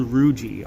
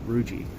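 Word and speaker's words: rugae: that wrinkled texture there it's called ruiji ru GAE think of it like it like pronounced like algae but ruiji these are folds and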